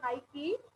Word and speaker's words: Nike: will come to know nike is also uh it is not knight it is called as nike this is also an